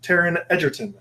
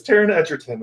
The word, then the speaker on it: Taron Egerton: video of Taron Egerton saying fun fact it's pronounced Taron Egerton the interviewer had just said introduce yourself Taron Egerton was like nope it's Taron Egerton the interviewer yeah I didn't know I didn't